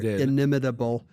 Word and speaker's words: inimitable: out the inimitable style I I said it with the right number of syllables there inimitable uh uh it turns